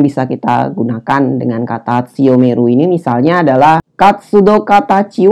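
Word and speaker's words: 強める: Kanji ini dibaca tsuyomeru bila dia bersebelahan dengan hiragana me dan ru.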